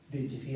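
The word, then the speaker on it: Chézy: por un coeficiente de Chezy al cuadrado. Esto acá es Chezy, se escribe con 2E Chezy y hay un acento entre medio en la primera E, ¿ya?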